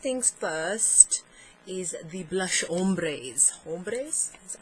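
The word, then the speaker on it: ombrés: So first things first is the blush ombres.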